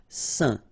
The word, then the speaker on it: saint: Okay, combination of A, I, N, phonetically will give you this un pronunciation. Saint.